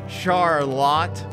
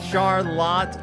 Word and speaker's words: Charlotte: ready to talk about Char a lot I don't think that's how you say her name Charlotte Perkins Gill man are